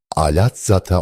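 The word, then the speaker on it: Alatsata: Rumlar tarafından alat zata olarak telaffuz edilmiştir.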